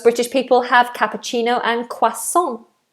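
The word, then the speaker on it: croissant: people have cappuccino and quason quason French word so we say it with a French accent or do most British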